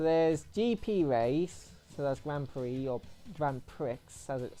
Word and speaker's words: Grand Prix: gp race so that's grand prix or grand prix how's it spell but it's spelt pricks but they say pre it's like that's one